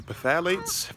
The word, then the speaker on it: phthalates: PHTHLATES. The phthalates, that's how it's pronounced.